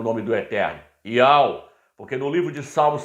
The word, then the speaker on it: YAUH: Então o nome dele não é Yahweh, não é Javé, não é Jeová, é Iau.